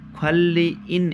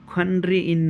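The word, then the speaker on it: 관리인: सोभाङवान भनेको आगो निभाउने मान्छे अग्नि नियन्त्रक हो भने ख्वाल्ली इन यसलाई खन््र इन नभन्नु होला न लगत्तै पारी र आउछ भने यसको को उच्चारण ल गरिन्छ भनेर हामीले पढिसक्या छौ।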